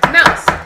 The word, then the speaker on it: Moos: in German are called Mouse and don't be scared it's not actually with Mouse in it it's actually spelled m-o-o-s and it's pronounced Mouse so all my friends